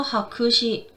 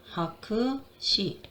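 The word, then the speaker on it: 白紙: 자, 그래서 하크시, 하크시, 백지란 단어.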